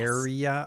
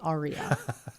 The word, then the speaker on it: Area: Is this spelled like Aearea? Yes. Area? Okay. Yes. Not like an aria No. that you would see in a. No, because then you would say aria.